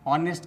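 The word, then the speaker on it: honest: दोस्तों यहां ध्यान देने वाली बात यह है कि साइलेंट लेटर एच शुरू में ही आ जाता है। इस प्रकार से आप ऑनेस्ट का स्पेलिंग बहुत ही आसानी से लिख लेते हैं।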